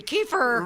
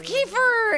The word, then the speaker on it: Kiefer: know what it's like I won't even be mispronouncing his name it really will be Kiefer right Kiefer and I finally got there right anyway it's